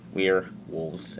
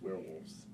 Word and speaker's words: We're Wolves: answer is yes yes or no my favorite we're we're we are wolves you see those things together and then you